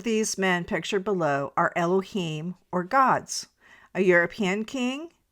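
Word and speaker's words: Elohim: The Hebrew word translated as God in the Hebrew writings is Elohiym. It is pronounced as Elohiym.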